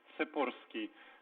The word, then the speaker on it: Torski: on the show and my correct last name is torski so there it is